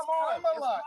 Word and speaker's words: Kamala: It's Kamala. You're doing this. Why are they so focused on how somebody pronounced this lady name?